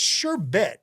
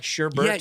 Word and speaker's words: sherbet: amazing and it but it's sure bit right it's not sherber you say uh Sherbert but it's it looks like sherbet no it's spelled wait actually I don't even I believe it's spelled without an R but I think you're supposed to say the r you're supposed to say I think you're supposed to say like sherbet or something that's sorb oh no